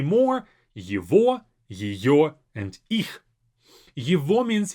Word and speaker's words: его: Его, even though it's spelled его, we say его. As if this g is a v sound.